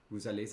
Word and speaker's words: vous allez: Vous allez? You do pronounce the S.